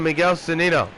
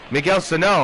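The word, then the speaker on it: Miguel Sanó: mistake a home run to miguel sonido Miguel Sano I should say I've been saying his name wrong the last two games Wow I want to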